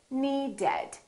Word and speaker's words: needed: The word need ends with a D. So we say needed. We add an extra syllable.